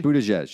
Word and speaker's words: Buttigieg: I actually think Are you pronouncing that correctly? Buttigieg, yeah, I think is.